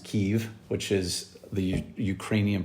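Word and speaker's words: Kyiv: a mission uh and I was called to Kiev Ukraine um now mostly pronounced Kev which is the Ukrainian pronunciation versus KV which is more of the Russian pronunciation and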